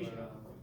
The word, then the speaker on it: Alasia: Alasia. She'll be back. At least I didn't call her that girl. So... Rhymes with Malaysia. That's how I remember.